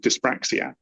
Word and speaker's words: dyspraxia: Well, my daughter is awesome, but from an early age in school, she was diagnosed with dyspraxia, which is like a dyslexia but with coordination.